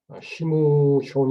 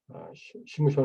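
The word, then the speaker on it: שמשון: 히브리어 로 삼손은 심손 으로 발음 됩니다 . 심숀 이라 고 발음 하며 , 어원은 " 셰메쉬 " 에서 유래 했습니다 .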